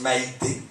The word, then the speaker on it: Maïté: ça M-A-I-T-E accent aigu, tu sais, pour qu'ils prononcent Maïté.